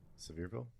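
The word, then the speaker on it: Sevierville: I like the choice of pronunciation there. Severeville. Yeah. I mean, I know that's how they say it, but it just it's I don't know why. It's Severville.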